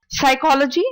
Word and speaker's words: psychology: say the letter P the first one is psychology psychology is the study of mind so it's psychology with silent P next one is psychiatrist